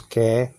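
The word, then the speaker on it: καί: Now they pronounce "ke."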